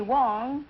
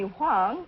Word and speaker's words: Wang: it uh Wang well the Chinese call me Wong Wong and the Korean call me Huang and the Americans call